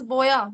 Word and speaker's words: BOYA: about it it's name like oh Boya it's boa b o y a am I am I pronounced boa yes yes it's how is it